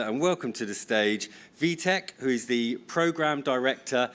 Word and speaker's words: Wieteke: It's Wieteke, and it's a really Dutch name, so no one outside the Netherlands can pronounce it.